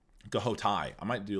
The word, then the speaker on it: Ghoti: It's not pronounced fush. Ghoti.